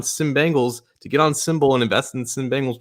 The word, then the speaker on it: SIMBULL: So it sounds like Symbol, but it's spelled a little differently.